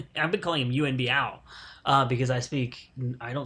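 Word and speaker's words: Yuen Biao: this release is I finally learned how to pronounce his frickin name and became U and B ow because I speak I don't stick any Cantonese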